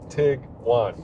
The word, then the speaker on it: Tiguan: It's tiger and iguana. Tig-wan.